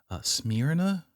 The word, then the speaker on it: Smyrna: It kind of sounds like smearing off.